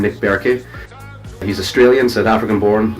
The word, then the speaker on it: Bertke: Some folks pronounce it Bertke. It's actually pronounced Bertke, I think, is the correct German pronunciation.